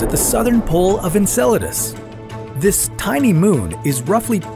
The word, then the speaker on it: Enceladus: would happen if we found alien life on Enceladus first of all it's pronounced Enceladus not enchiladas sorry muchacho Enceladus is Saturn's sixth largest moon